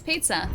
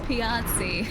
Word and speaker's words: Piazzi: No, it's pizza. That's how you say it. It's pizza. It's a pizza galaxy. Guys, I know it's Piazzi.